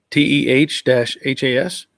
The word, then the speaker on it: Tejas: Wayne Warrior sent you a pic of the smoked brisket we made this past Thursday in Tejas, TEH-HAS.